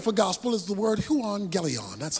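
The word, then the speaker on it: εὐαγγέλιον: the Greek word for gospel is the word huon Galleon that's how it's pronounced huon Galleon is simply translated good news so I got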